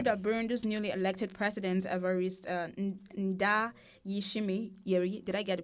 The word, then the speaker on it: Evariste Ndayishimiye: All right, let's we saw that Burundi's newly elected president, Evariste Ndayishimiye, did I get the pronunciation?